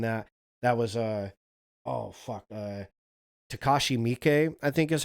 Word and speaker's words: Takashi Miike: That was oh fuck, Takashi Miike, I think is how you pronounce his name. Takashi Miike.